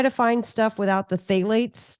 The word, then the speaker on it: phthalates: I would try to find stuff without the phthalates. That's spelled with a P, PTH, phthalates.